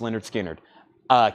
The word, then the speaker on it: Lynyrd Skynyrd: Lynyrd Skynyrd, pronounced Lynyrd Skynyrd.